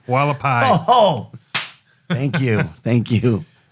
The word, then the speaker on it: Hualapai: that's the one in northern Arizona I can't pronounce I don't know what it's called still wikapali lullaby Hualapai oh thank you thank you uh I thought